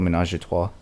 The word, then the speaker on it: Ménage à Trois: It's called Ménage à Trois. Oh, you pronounced that correctly.